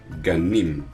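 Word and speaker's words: גנים: Ganim.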